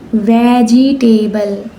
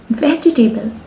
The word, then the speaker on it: vegetable: Okay, the first word is vegetable. No, not like this. It's vegetable. Okay.